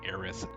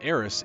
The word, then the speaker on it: Aerith: been pronouncing eddie as heiress in in english when it should be aerith because su should be translated as the th sounds anyway we'll talk more